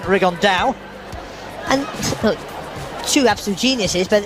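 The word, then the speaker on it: Rigondeaux: T's talked about fighting riondo or as he's correctly pronounced with the uh Spanish accent rigon da and two absolute Geniuses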